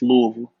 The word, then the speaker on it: Louisville: ain't got to put too much emphasis on the Louis. It's just Louisville.